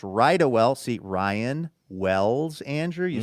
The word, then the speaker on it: Rydawell: That's pronounced Rydawell.